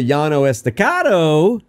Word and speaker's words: Llano Estacado: Now, if you're talking about the Llano Estacado, which is the shelf, you know, above the Cap Rock, that is the Llano Estacado.